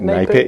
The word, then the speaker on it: NAPIT: We've got Steve Humphreys from NAPIT, did I pronounce that right? NAPIT, yeah, you got it right. Not NAPIT.